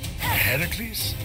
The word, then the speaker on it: Heracles: you doing there that thing with your voice herocles yeah that that is how it's supposed to be pronounced seems like a lot of work but